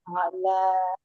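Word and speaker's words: الأعلى: la itu lam Fathah lam fathah fathah bertemu ini apa? eh, alif Alif mem. a'la alif yang Iya. Hanya satu untuk bacaan 2 harokatnya di al-a'la.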